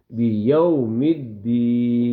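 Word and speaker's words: بيوم الدين: تو یہ واو مدہ کی بجائے واو لین ہوگی۔ واو لین کا مطلب ہوتا ہے نرم لہجے میں اس کو فوراً پڑھنا، ٹھیک ہے؟ بیوم الدین، بیوم الدین، ٹھیک ہے بیٹا؟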